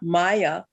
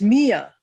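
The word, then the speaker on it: Miya: looks like to you it's not maya it's mia mia yes yes like mamma mia ha ha that's very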